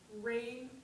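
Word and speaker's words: Raynne: That's Rain, R-A-Y-N-N-E. The second N is silent.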